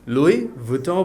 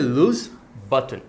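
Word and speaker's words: Louis Vuitton: But typically বাংলাদেশীরা যেটা করে এটাকে লুই ভুটমো বলে প্রোনাউন্স করে থাকে। যেটা ভুল উচ্চারণ। সো এটার আসল সঠিক উচ্চারণ হচ্ছে লুজ। সো এটাকে লুই না বলে আমরা বলব লুস আর এটাকে ভি এর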